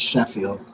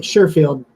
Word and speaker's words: Sherfield: some um surefield uh I'm not saying I'm saying his wrong name wrong aren't I I think it's Sheffield uh yeah I think you're talking about Sheffield no I'm right surefield yeah Trent sherfield wide